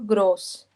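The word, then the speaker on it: groß: डैंडले ग्रक रुको रुको ये जो बीटा जैसा साइन है ना ये स वाली प्रोनाउंसिएशन लेता है तो ये होगा ग्रॉस ग्रॉस ओके क्रॉस ओ डुमके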